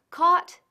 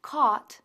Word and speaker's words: caught: de teach es taught caught y Ta se pronuncian de manera similar sin rastro de la G decimos caught y ta respectivamente veamos